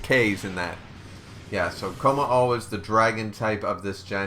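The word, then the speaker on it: Kommo-o: Komako. Komako? I thought it was Komao. Or is Komao the... Komao is probably the other... No, it's Komao. Yeah. They were adding extra K's in that. Yeah, so Komao is the dragon type of this gen.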